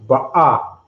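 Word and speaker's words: בָּא: They pronounce it a kind of halfway off. They say ba was ba'a. This means to go or to come. But it's pronounced ba'a.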